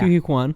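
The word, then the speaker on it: Ke Huy Quan: We meet Obi, which is played by how do you say? Q Hugh Kwan. Yeah. Q Kwan. Yes.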